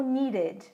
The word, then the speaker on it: needed: A mesma coisa com needed. Needed. Eu tenho D, eu tenho D. Então eu preciso diferenciar essa pronúncia. Por isso o meu E é dito, ao contrário do fixed.